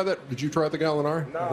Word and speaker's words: Gallinari: Gallinari.